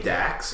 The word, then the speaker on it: Dax: Is his name Dax or Dak? What is that? It's Dax. Is it Dak? How do you spell it?